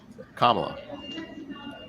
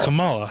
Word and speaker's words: Kamala: Kamala gives me very much Scary Mom vibes at times.